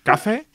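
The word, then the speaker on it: Café: No, it's cafe. It has an accent in the end. Cafe. Yes. Yes, yes. Not like cuff.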